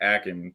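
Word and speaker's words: Achane: or something and that he said it's supposed to be like acting yeah okay so I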